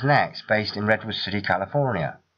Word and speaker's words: NeXT: Its name was usually pronounced as Next, based in Redwood City, California.